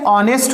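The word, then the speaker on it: honest: ऑनेस्ट होता है। भैया यहाँ पे एच साइलेंट है, इसकी जो साउंड आ रही है वह वोवेल की आ रही है, इसलिए इसकी मीनिंग क्या लगाना?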